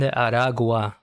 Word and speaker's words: Aragua: Trend Aragua. A r a gua. There's no way to pronounce. There's no L.